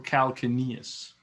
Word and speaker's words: calcaneus: can, with these terms, you can almost pronounce it in a way you want to, because they're used around the world. And believe me, French-speaking people pronounce it a little bit different than, you know, Americans. So that's perfect. So we call it the calcaneus or calcaneus.